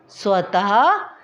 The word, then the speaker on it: स्वतः: इसको हम विसर्ग भी कहते हैं और इसका उच्चारण वर्ण के बाद ह की ध्वनि के समान होता है, जैसे नमः, स्वतः, शनैः आदि।